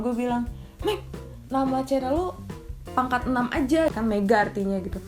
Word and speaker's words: Pangkatenam: Jadi dibacanya pangkat 6 ya. Ada yang pangk6 atau apa pokoknya pangkat 6 sebenarnya bacanya.